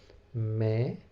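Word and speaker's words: میں: am from London so I can say in May May n is almost silent or with nasal sound we can pronounce me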